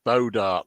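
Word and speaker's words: bois d'arc: Todd says it's pronounced Bodark.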